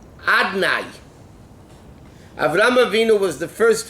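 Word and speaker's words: Adonai: It's written Yud Kei Vav Kei, and it's written Adnai. I mean, it's pronounced Adnai.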